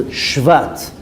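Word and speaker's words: שבט: Now, the meaning of Shvat, if you read it with the pronunciation of Tzere or Segol, it will be Shevet. Shevet means a tribe. But reread the name of the month is Shvat, with a Shva, with the pronunciation of Shva.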